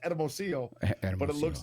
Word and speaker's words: Hermosillo: It's pronounced Hermosillo, but it looks like Hermosillo.